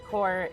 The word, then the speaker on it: corps: Uh FYI, corpse is usually um just pronounced core. It just means a large group.